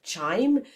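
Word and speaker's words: chyme: Then what leaves the stomach is called kimeim or chime. So it's spelled C H Y M E.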